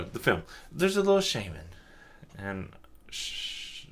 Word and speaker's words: Shaymin: There's a little Shaymin. And shh How else would you say the name? Shaymin Shaymin It's Shaymin.